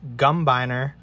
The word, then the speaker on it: Gumbiner: in the thumbnail but you can see here it's pronounced gumbiner custom knives there's the logo